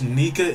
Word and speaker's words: Nika: a break because he read the spoilers bro pronounce nika in japan brin is pronounced nika in japan in japanese i have no clue